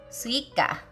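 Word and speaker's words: すいか: I have no idea why, but it's suika.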